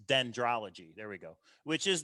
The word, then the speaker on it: dendrology: This solved has the word dendrodology in it. Actually, let me look that up and make sure I'm saying it right. Actually, it's dendrology.